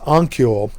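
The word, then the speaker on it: Honokiol: It's spelled Honkiel, I believe. The H is silent. So it's pronounced Onkiol.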